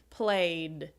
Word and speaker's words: played: and that means you're going to use the this sound because the is also a voice sound the you can feel it so the past tense of play is played played another example show